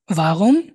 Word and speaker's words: warum: প্রথমটা ভাস, ওয়াস, was, ভান, ওয়ান, ভেয়া, wer, ভি, wie, wie, warum, warum, wo, wo, woher, woher, der, wohin। wohin, wohin, এই যে ডব্লিউটাকে আমরা ভি উচ্চারণ করতেছি, সবসময় ভি উচ্চারণ করবেন।